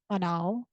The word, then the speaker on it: banal: Another synonym of commonplace that's common SAT is banal. pronounced that way.